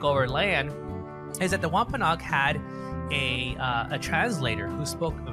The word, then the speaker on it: Wampanoag: Did I say? Yeah, you said it right. Wampanoag.